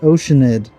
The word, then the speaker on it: Oceanid: It's pronounced Oceanid.